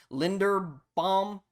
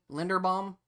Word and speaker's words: Linderbaum: Then we have Tyler Linderbaum. I believe that's how you pronounce his name. Linderbaum.